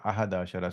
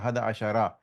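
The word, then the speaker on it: أحد عشر: So in this one, in fact, the word, if you were just pronouncing 11, Mm-hmm. you will simply say Ahada Ashar. You will not even say Yes. Ahada Ashara. But because Okay. it's in the middle of the sentence, you will continue to say Ahada Ashara.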